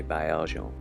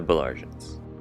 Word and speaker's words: Baillargeon: This is the home of my maternal French ancestors, les Baillargeon, or in the English pronunciation, the Baillargeons.